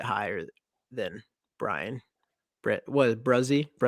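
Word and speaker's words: Bresee: than Brian Brit was bruzzy is how you pronounce it yeah who do you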